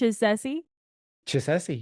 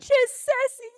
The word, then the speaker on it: Chisesi: say it right did I say right Chessie you got it Chessie score for me okay rock cool so tell